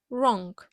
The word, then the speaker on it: wrong: буквосполученні w та R буква w не вимовляється right Wrong також цікавим є буквосполучення